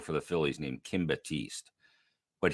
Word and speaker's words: Batiste: the Phillies named Kim Batiste but he didn't call him Kim Batiste he got him Kim bad taste like he added an extra syllable or there was another